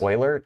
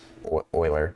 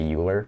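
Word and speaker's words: Euler: oh you know I should say uh it's pronounced Oiler e l e r it's a it's a name of the person or far as I know it's pronounced Oiler but you I don't think people say uler but as far as I know it's pronounced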